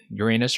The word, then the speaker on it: Uranus: Jupiter Saturn and uh Uranus or Uranus depending on your preferred uh pronunciation and Neptune so